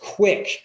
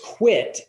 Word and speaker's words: quit: that too many people they they think it's pronounced quick q-u-i-c-k and it's quit and it it doesn't convey the same rights